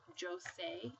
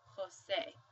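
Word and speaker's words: José: The J also sounds like an H, so this word, probably seen this name before. You don't pronounce it as Jose, you actually say Jose, because J sounds like an H.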